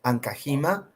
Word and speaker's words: Ancajima: Dot and Kahima. That's the way my name is pronounced.